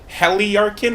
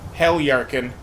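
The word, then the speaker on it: Heljarchen: I know that the J is pronounced like a Y, but I don't know if that would be like Heliarkin or if it'd just be a silent J there. I just call it Helyarkin.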